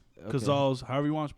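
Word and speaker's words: Cazal: way these are gazelles it's a g silent it's a c it's c-a gazelles but everyone pronounces it gazelle I don't know why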